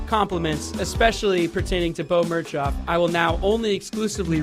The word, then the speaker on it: Mirchoff: Spelled like Mirchoff, but pronounced Mirchoff.